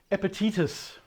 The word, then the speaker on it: Epictetus: Epictetus is how it's pronounced in English. I don't know the Latin.